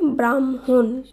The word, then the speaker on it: ব্রাহ্মণ: বয়রফলা আকার হয়ময় মধ্যাহ্ন, এর শুদ্ধ উচ্চারণ হবে ব্রাহ্মণ।